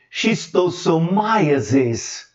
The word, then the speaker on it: schistosomiasis: Which have a role, um papel em transmitting schistosomiasis. Conhecia essa expressão? Schistosomiasis é como se pronuncia extossomose em inglês.